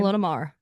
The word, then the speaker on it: Ilona Maher: Ilona Maher.